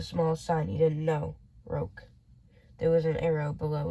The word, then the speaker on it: roque: It's pronounced Roke.